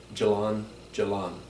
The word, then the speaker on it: jalan-jalan: want a small talk one quick response is jalan-jalan it means just walking going for a walk and that would be spelled je a la and and then repeat it jalan-jalan that means I'm walk walk I'm walking now